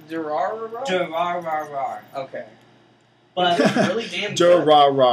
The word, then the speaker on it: Durarara: How do you pronounce Durarara? Durarara.